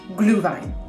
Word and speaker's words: Glühwein: Say it with me now, all together, Glühwein. I watched a YouTube video on how to pronounce this German mulled wine about 7 times.